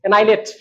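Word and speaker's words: annihilate: एन आई लेट एच एच वाले को silent कर देना।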